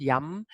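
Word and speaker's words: यं: but it's pronounced young and it's the sound that corresponds to the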